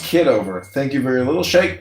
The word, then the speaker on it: Kitover: It's pronounced kid over.